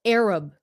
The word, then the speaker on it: Arab: Nhưng mà it's a B sound at the end.